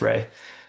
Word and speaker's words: Rhea: I always thought No, Rhea is Ray.